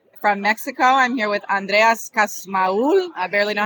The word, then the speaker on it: Andreas Kussmaul: is will you andreas hello my name is andreas cosmaol and i'm based in cafe california but i'm